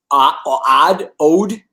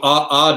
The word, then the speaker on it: Odd: I'm pronouncing this right, Ode? How do you pronounce the name of the coach? So Odd is how you pronounce it. They pronounce it Odd.